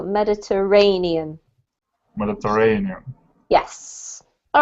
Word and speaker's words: Mediterranean: this is mediterranean yeah so we pronounce the emphasis is on this syllable mediterranean mediterranean yes all right